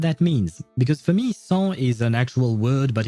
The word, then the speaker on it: sans: I don't know what that means, because for me, sans is an actual word, but in French. We pronounce it sans and not sans or something.